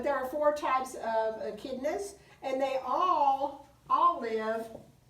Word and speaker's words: echidna: the other one is the um let me pronounce it correctly uh echidna i had to remember echidna now on the